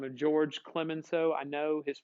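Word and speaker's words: Georges: by the name of george clements so i know his first name looks like george's like with an s but you don't pronounce the final consonant in french right and george clement so they called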